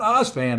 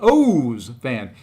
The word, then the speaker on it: O's fan: Not Oz fan, as it's spelled out, but O's fan.